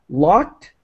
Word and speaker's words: locked: And oh, yeah, just locked. That's another example where the ED is pronounced as a T as quickly as possible.